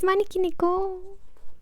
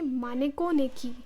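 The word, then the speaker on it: Maneki Neko: The second book is Maniki Niko. Sometimes I I say it wrong. I say Mano Niki instead of Maniki Niko even though Neo is cat in Japanese in case you didn't know.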